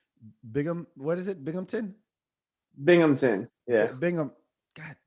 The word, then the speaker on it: Binghamton: spell it be yeah so it's like bing ham ton oh it's ham okay big hampton like you're in the hamptons but it's not it's it's binghamton not even close that doesn't sound like